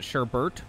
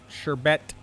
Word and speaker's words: sherbet: far as i'm aware it's more common for people to pronounce it sherbert with the second r um but yeah it's not actually sherbert sherbet i think i learned